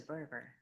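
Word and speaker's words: Berger: By the way, what is a burger? Oh, it's it's a it was a kit house. It's spelled unlike anybody thinks it. B E R ge r.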